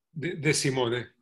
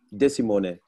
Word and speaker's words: De Simone: Hoe spreek je achternaam uit, Arturo De Simone? De Simone. De Simone.